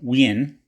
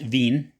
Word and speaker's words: Wien: system patent, new model Wien. Or sorry, I'm told now that it's pronounced Wien.